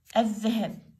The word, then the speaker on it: الذهب: الذهب، الذهب، الذهب، صدق ونسيت أخلي شدة، لازم تحطون شدة، تحطون شدة ورا حرف اللام، ورا حرف اللام، الذهب اللام ما لفظت.